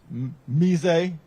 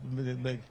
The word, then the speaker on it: Meze: Roaming Rooster, Pizza, Mazel, Mise. Is that what's the right pronunciation? That Meze. Meze. Okay, thank you.